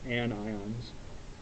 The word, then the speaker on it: anion: become negatively charged and those are known as an ions now noise doesn't work there anyway looks like anion but it's pronounced anions every ionic compound is made up